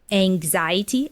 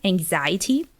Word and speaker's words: anxiety: of the pronunciation yeah the noun would have this z sound anxiety anxiety and when you use